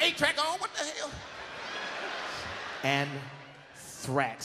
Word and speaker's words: anthrax: You don't even know how to say it, man. That Ajax is cleaning motherfuckers out, ain't it? Learn how to say it before you die. It's anthrax.